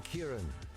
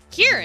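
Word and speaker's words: Ciarán: I am Kieran. Kieran? Means little dark one. The night always did call to me. So the A's silent, and the C is pronounced like a K.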